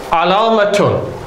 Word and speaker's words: علامة: And don't confuse alamatun with allama or allamatun, if we pronounce it with the ending. Where you have a shadda on the lam, allamatun, then that refers to an alim, al-alim al-kabir.